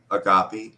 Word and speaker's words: agape: the unconditional love how was that spelled Agape agapy a g a p i agopi I wish spelled that way like it SP